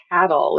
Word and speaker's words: CATL: it as an acronym we actually do pronounce it as cattle and so we enjoy